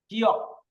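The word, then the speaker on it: 기역: উপরে যদি বসে এই গিয়ক, তার উচ্চারণ হবে 3টা। আর এটা যদি নিচে বসে তাহলে উচ্চারণ হবে একটা, ক।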